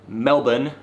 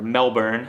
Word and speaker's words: Melbourne: went to VidCon in Melbourne or Melbourne as I like to say but Australians hate Melbourne yeah it's spelled Oh